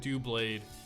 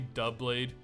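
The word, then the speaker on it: Doublade: example is no guard D blade yes I know it's technically dub blade but I'm too forgone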